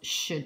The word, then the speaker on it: should: So we've got could, would, and the last one was should.